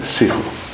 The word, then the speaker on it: Sigo: I'm sitting in the Secunda station, police station, and with me is the brand new station commander, Colonel Sigo. Do I pronounce it correct, Colonel?